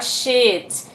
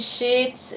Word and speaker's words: sheet: Então, quando você estiver na dúvida sobre como pronunciar essas palavras, você pensa, sempre quando eu pronunciar mais longo, é a palavra certa.